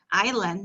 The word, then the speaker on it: island: i'll so i like this word because though the alphabet s is not pronounced here so when i say this word i pitch island as well because again s is not pronounced it's island not iceland so i